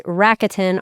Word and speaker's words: Rakuten: There's another one called Rakuten that I pronounced improperly for 6 years, but it's Rakuten, Rakuten.